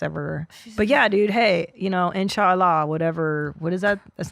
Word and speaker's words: inshallah: Did you say inshallah? Yeah. Inshallah. That's how they say it in the Muslim world.